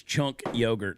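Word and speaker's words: Cenk Uygur: said are Scrappy said it's uh it's chunk yogurt that's how you say his name chunk yogurt so uh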